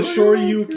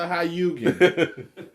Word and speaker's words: Shoryuken: It's the Shoryuken. It's not the Hayugen.